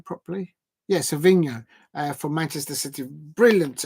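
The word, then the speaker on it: Savinho: and watch that individual performance from saevinho um pronounced his name properly yes Savino uh from Manchester City brilliant individual um take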